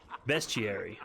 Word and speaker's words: bestiary: uh Beast bester you pronounce that best T pronunciation let's see bestiary ah bestiary okay that's not a word in